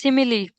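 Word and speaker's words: simile: अब इसी तरह इसकी क्या प्रोनाउंसिएशन होगी? इट्स सिमिली।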